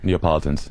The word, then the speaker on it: Neapolitans: And the uh like even the Italians there was like this whole thing about Neopolit I can't pronounce it but uh Sicilians and Neapolitans Neapolitans there's a little schism there between